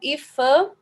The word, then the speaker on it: IPHAN: Ok e o o iphan How I Pan né é geralmente começa as pessoas costumam pronunciar essa sigla como iphan Ah tá é esse